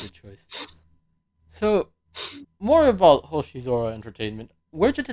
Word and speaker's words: Hoshizora: The kanji for Hoshizora is star and sky. Oh. Yes, Hoshi meaning star, and Zora, or sometimes pronounced as Sora, Mm.